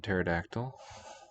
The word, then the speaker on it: pterodactyl: written pt is in pterodactyl but for english it's not a permitted sequence we just drop the p in polish it's pronounced